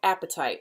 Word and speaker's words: apatite: heard that about it it is funny that it's called apatite it's not spelled like apatite when you're hungry as a different spelling but I still think